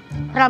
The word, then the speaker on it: Real: Real Madrid. Real, bacanya real Makanya bukan susah real.